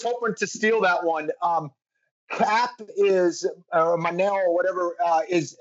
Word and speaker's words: Kape: It's Cap. It's fine. Cap. Cape is cooler, but we'll go with Cap.